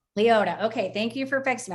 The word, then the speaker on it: Liota: Liota. Liota.